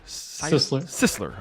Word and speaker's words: Sisler: 42 for george how do you say seisler sisler okay george sisler uh it's gonna go